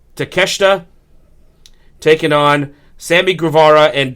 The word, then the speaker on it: Takeshita: Jericho and kanosuke takashita I think I've butchered his name I think oh wait hang on I think they say it takesha I do apologize to my Japanese fans out there they're listening live I apologize it's I I did I I totally said his name wrong so it's Chris Jericho and kanusuke takeshita taking on Sammy Guevara